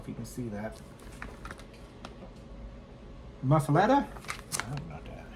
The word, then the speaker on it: muffuletta: Alexa, how do you pronounce m u f f u l e t t a?